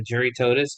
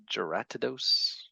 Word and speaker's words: Jyratodus: how to pronounce this I've been calling him a Jerry toadus but apparents it's a uracadose giratadose your ratadose spelled with a j that's why I've been